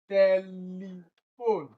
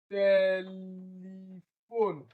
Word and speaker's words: telephone: For option B, telephone. Telephone. It is also tel that is stressed. Telephone.